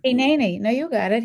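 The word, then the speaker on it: הנני: When you hear the holy call, answer Hene. You'll have to help me with pronunciation. Hineni. No, you got it. Hineni.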